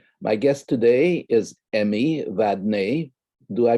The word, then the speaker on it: Vadnais: guest today is emmy vadeny do i pronounce it correctly that is the uh the french correct pronunciation we say madness here in minnesota but that's correct you play vadness in minnesota okay oh